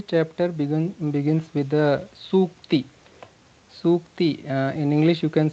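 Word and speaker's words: sūkti: Sukti, in English you can say Sukti, Sukti. So if you pronounce it properly, Sukti, the word it is like Su Ukti. Su is for good, Ukti means something said.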